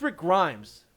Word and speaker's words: Rick Grimes: my name right Rick Grimes Rick Grimes it's Rick Grimes get with the times it's the best show